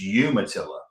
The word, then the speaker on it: Umatilla: is the town of Umatillaa. It's um it's Umatillaa and I know Penguin told you to pronounce it the other way.